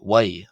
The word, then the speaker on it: ⲟⲩⲁⲓ: And this word here is pronounced as Y as if it was w ai. Y why why and this is the word uh this word is the masculine version of the number one and it has a w sound.